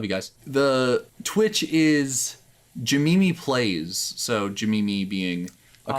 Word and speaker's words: Jamimi: Jamimi. So it's JIMMIMI. We don't skip any letters. It is literally just Jim and Mimi with no space, but pronounced as one word. Jamimi.